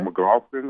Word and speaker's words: McLaughlin: McLaughlin, I think. Yeah, that's how you pronounce his last name.